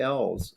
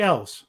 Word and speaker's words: Elwes: We all pronounce it Elwes, and he answers to it.